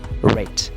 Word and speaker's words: read: TV and more but once it is passed we see a rate we pronounce it the same or just in the same way as the color red red and also you can